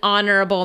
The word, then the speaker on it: honorable: Of course, an honorable man. Oh, that's right? That one's the H is silent though.